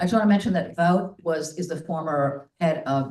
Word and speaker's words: Vought: And got Russell Vought, and I pronounce it Vought because that's the way that the Boys TV show pronounces the name, and that's the evil corporation that controls everything.